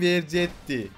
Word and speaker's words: Vercetti: Vercetti. Nasıl okunuyor? Tommy Vercetti.